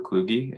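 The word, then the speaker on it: Kluge: welcome thank you and my name is klugi it's spelled a-n-d-r-e-w-k-l-u-g-e uh and I want to express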